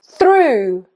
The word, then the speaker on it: through: Through, through as in you.